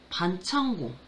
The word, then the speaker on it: 반창고: 자, 반창고. 이거 반창고라고 읽어요.